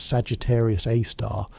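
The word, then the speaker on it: Sagittarius A*: At the very heart of this nucleus sits Sagittarius A, pronounced Sagittarius A star, a supermassive black hole containing approximately 4 million times the Sun's mass.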